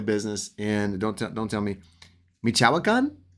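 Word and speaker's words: Michoacán: to your family business, and don't tell me, Michoacan? How do you say that? Michoacan? Michoacan, yeah.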